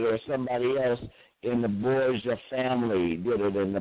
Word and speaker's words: Borgia: Barza? Did I pronounce it right? Lucretia Borgia, yes. Yeah, Borgia.